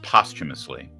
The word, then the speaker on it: posthumously: I I don't want to nitpick but it's pronounced posthumously and when somebody says a word like posthumously